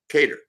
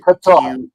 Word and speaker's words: Qatar: world is in the country of uh uh catered right I always pronounce that uh u I think incorrectly or incorrectly Qatar now I gota remember that remember rock